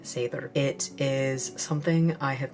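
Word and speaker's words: seiðr: Different people pronounce it different ways. I'm not going to judge you, so please don't judge me. Some people call it Seidr. I personally pronounce it Seidr.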